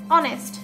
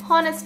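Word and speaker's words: honest: Same পরেরটা তো অনেস্ট, হনেস্ট না, এটাকে অনেস্ট বলে। অ্যান অনেস্ট ম্যান, অ্যান অনেস্ট ম্যান, অনেস্ট এখানে ও উচ্চারণ হয়েছে, উচ্চারিত হয়েছে ও, ওটা আসলে কি একটা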